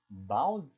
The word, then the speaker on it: baud: Se escreve baud, mas se lê baud.